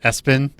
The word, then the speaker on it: ESPN: are named ESPN oh they generally pronounce it Espin but yeah that's a